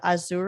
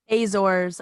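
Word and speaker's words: Azores: your booking for the azour race I said that wrong azors I just learned how to say it like literally two days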